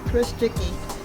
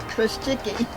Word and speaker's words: Chrusiki: Chrusiki. See, I would say that, but I would ruin it. How do you say it again? Chrusiki.